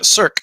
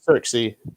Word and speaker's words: SERKC: sam for the record uh cirque you don't pronounce the c not certainly not turksy that's not circumstance well